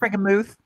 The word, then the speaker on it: Frankenmuth: Is that how you say it? Muth? Frankenmuth. Muth. Okay.